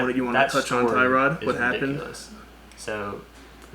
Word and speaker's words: Tyrod: I don't know, but I mean, it's definitely a shame for Tyrod, or his name's actually pronounced Tyrod.